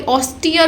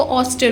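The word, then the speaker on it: austere: सीधा सादा, sorry ऑस्टियर बोलते हैं, कुछ लोग इसको ऑस्टर बोलते हैं, बट इट is totally pronounced as ऑस्टियर।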